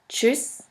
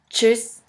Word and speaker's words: tschüss: The next letter combination is TSCH, TSCH, which is simply pronounced like a CH in English. Here we have the example of the word Deutsch, Deutsch, which means German, and of the word tschüss, tschüss, which means bye.